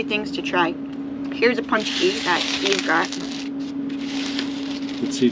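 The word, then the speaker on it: pączki: One thing we got is called a punchki, which I don't know why it's called that, because it's spelled like P-A-C-K-Z-I or something. I don't know how that says punchki, but apparently it does.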